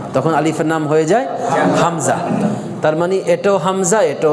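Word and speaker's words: همزة: এর মধ্যে 1 নম্বর মাখরাজ যেটা এ হলকের শুরু থেকে, এখান থেকে হামজা কি উচ্চারিত হবে? হামজা, হামজা।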